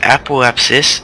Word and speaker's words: apoapsis: appap and I looked it up it is pronounced apoapsis and per apps according to the Webster Miriam